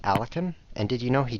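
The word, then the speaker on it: Alekhine: about alakin defense did you know it's not pronounced alakin it's pronounced alakin and did you know he died of drinking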